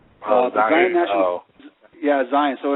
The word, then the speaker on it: Zion: Yeah, Michael, I was going to ask you, have you ever done any work in the Zion National Park area over in Utah?